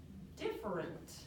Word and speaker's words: different: right that's exactly right but you know what's tricky about the word different sometimes when we say it we can say it lazy listen to me different that's sounds like different too but if we say it correctly it's different three just like next word